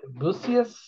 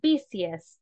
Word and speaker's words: busiest: example fall is the booziest shopping season this is the most rapid method for delivery okay very good and the pronunciation of this word is busiest okay this one is busiest the fall is the